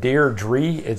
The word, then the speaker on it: Deirdre: she's back very weird there should be Deidre but the way they pronounce it Deirdre it's very strange never heard such a